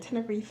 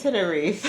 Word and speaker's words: Tenerife: We were saying Tenerife. Right. We were saying Tenerife. It's Tenerife.